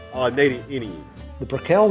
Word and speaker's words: Brickell: Jim pronounces it Brickell. Edward John Brickell. We visited E.J. Brickell's great-great-granddaughter, Iris Cantlon, to ask her about the name. Iris is also Jim Brickell's sister. That's always been a question. My grandparents pronounced it Brickell.